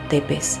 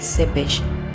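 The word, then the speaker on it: Țepeș: El nombre que recibe en la tradición rumana es Vlad Tepes, que se pronuncia realmente Sepesh, porque tanto la T como la S finales tienen pegada en la parte de abajo una especie de coma, y eso transforma la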